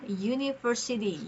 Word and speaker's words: university: Karena di sini meski huruf awalnya itu huruf vokal U ya, tapi kan dibacanya university Usity. Jadi bunyi awalnya itu merupakan konsonan maka artikel yang tepat itu adalah a university.